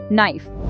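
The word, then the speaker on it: knife: 1 नाइफ, यहाँ के silent है।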